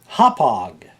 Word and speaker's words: Hauppauge: We're going out to this place on Long Island called Hauppauge. Hauppauge. Say it with me now. Hauppauge. Hauppauge is spelled Hauppauge.